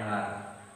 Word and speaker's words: hour: we chatted for an hour. Chatted. They were talking for an hour. For an hour. An hour. You see, an hour. H is silent.